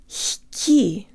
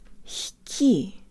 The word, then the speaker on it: лёгкий: This is one of the few words where g is pronounced ha, with the tongue as high as possible as it rises to pronounce the next syllable. Not h, but h. Let's pretend that we have